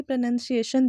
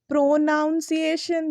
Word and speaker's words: pronunciation: सिख रहे हैं ना तो ये क्या है प्रनंसीएशन इट्स नॉट प्रोनॉन्सिएशन जो मैं खुद भी बचपन में बोलती थी ये नहीं करना ये बिल्कुल गलत है इसका जो सही उच्चारण है वह प्रेग्नेंट रहता है हम उसे प्रोनॉन्सिएशन पढ़ते हैं प्रोनॉन्सिएशन इट्स नॉट प्रोनाउंस प्रनंसीएशन ठीक है तो आज से हम क्या बोलेंगे प्रनंसीएशन इट्स नॉट प्रोनॉन्सिएशन ठीक है फिर उसी तरीके